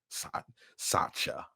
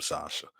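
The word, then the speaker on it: Satya: years since the dude Sasha Nadella came in. Sacha, that's how they pronounce it. Sacha. Yeah, I mean, I call him Sasha.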